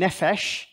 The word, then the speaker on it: nephesh: Okay, that P is a soft sound. It's an F sound, nephesh.